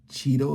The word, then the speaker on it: Cheatle: uh secret service director Kimberly Cheeto is how you say her name resigns in Wake of